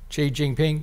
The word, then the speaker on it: Xi Jinping: Xi Jinping?